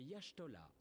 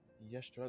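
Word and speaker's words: Y'shtola: Cette charmante demoiselle à côté de moi est Yashtola. Limsa Lominsa a la chance d'être sous sa garde. Yashtola. Donc en plus, ça se prononce pas comment ça s'écrit.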